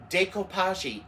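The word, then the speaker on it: découpage: Yeah, decopage. Look it up. It you spell it day d a y kopashi.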